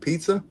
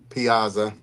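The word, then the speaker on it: Piazza: Got Mike pizza. This was a This is a PSA 9. I know I'm saying it wrong, y'all. Piaza, I call Mike Pizza, too.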